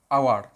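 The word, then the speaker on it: hour: এন আওয়ার, এন আওয়ার, দেখো এইচ ও ইউ আর, এখানে H consonant কিন্তু আমরা এন লিখলাম, কারণ কি উচ্চারণটা দেখো আওয়ার, আ, আ, আ আসছে, অর্থাৎ কী আসছে, ভাওয়েল সাউন্ড আ, সেই জন্যে এখানে এন হলো, ঠিক আছে।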